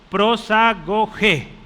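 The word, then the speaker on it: προσαγωγή: Si usted pronuncia esas letras, significa, o se dice, prosagogé. El acento está en la E.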